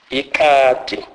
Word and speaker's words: ikati: K is pronounced as K. K. This is pronounced as in the English word skim. E.g., ikati, ikati, which means cat.